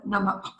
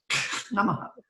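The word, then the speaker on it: नमः: Yes, it's an additional syllable which takes the biggest stress, they accentuate it. I tell my students to like swallow it. Namaha. Namaha. Nama. Yeah, Make it the softest part.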